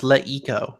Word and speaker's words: LeEco: And it's LeEco, Matt, with a long E preceded by a, I don't know what you call that sound, E, but schwa.